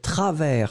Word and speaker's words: travers: u s mystérieuse ensuite travers souvenez-vous s final qui n'est pas prononcé travelsmart2010 le prononcent pas